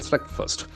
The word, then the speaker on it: slugfest: issues, triggering a political slugfest between the Congress and the BJP. Now we get a beautiful word called SLUGFEST. So it has got very interesting pronunciation. Slugfest. The accent falls in the first syllable.